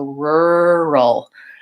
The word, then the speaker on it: rural: then doing that combination it's just a matter of slowing down enough to make sure you have to type back R's in a row so rural rural and there is kind of an initial R in here as well so yeah it's very loaded I always tell the